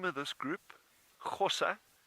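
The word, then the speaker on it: Gosa: So the name of this group, Xhosa, it's spelled G-O-S-A, Xhosa, and it actually derives from the name of one of the original farms in this area.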